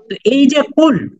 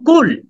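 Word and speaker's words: كل: কুল কুলহু আল্লাহু আহাদ কিন্তু এখন এই কফের উচ্চারণ যদি আপনি সঠিক না করতে পারেন আপনি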